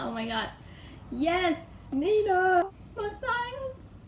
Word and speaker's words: Matthias: my gah YES NINA Matthias... (it's actually pronounced ma-TY-eyes so sorry haha) *furiously